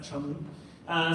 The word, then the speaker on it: Cholmondeley: Yes, it doesn't look like Cholmondeley, but you can pronounce that Cholmondeley.